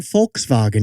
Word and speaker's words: Volkswagen: Das ist mein Volkswagen, ja? As in Volkswagen with an F. It's a V pronounced like an F.